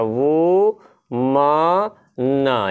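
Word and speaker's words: woman: आगे बढ़ते हैं, और अगला है आपको वुमन, ये इसका उच्चारण ना बहुत ध्यान से देखेंगे, है ना, वू म न, ये वुमन है। बहुत सारे लोग ओमैन कहते हैं, ओमैन माने बुरी आत्मा होता है, और इसका प्लूरल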